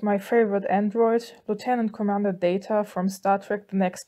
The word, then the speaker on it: Data: trek the next generation i will pronounce his name as data not data because in the german version of the next generation that i watched they called him like that the background footage is